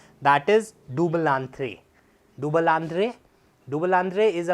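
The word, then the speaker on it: double entendre: That is डुबलांथ्रे।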